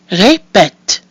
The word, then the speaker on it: répète: So we have an I with the accent aigu, that's pronounced E, and an I with an accent grave, which is pronounced E, and finally we have our silent mute I at the end, that gives us répète.